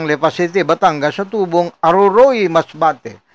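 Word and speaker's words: Aroroy: ang suspect na si alias Arman residente ng LP City Batangas sa tubong Aruroy Masbate. Ganyan po yung bigkas niya no Aruruy. Aruruy yung iba eh.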